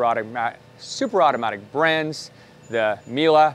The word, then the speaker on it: Miele: super automatic brands the miele miele however you want to pronounce it depending on where you are in the world we're going to say melee 6360.